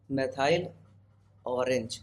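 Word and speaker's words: methyl orange: Spelling पे मत जाना, मेथाइल ऑरेंज।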